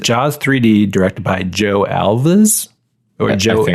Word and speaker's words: Alves: 3d directed by Joe Alva's we're joking olives yeah something like that or have like rhymes with halves yeah like yeah like